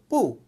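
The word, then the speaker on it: 不: সচরাচর আরও কয়েকটি পদ্ধতি আছে, বাংলা ভাষায় অনেক রকম আছে, যেমন না দিয়ে আমরা সহজভাবে নেগেটিভ বুঝি, ঠিক তদ্রূপ পু, ফোর টোনে বলে পু, পু মানে নো অথবা নট, পু।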